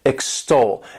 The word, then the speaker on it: extol: is extol to extol this word has two syllables and the stresses on that second syllable extol and what it means